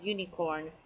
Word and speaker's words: unicorn: say a unicorn and you for unicorn is in you so the vowel you but as I'm saying the word it looks like I'm saying you so starting with a Y okay and in the